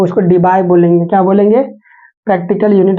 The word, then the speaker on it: Debye: जब मार्केट में ये आएगा ये डायपोल, तो उसको डीबाई बोलेंगे, क्या बोलेंगे, प्रैक्टिकल यूनिट इसका डीबाई। डीबाई का स्पेलिंग क्या है, DEBYE, DEBYE।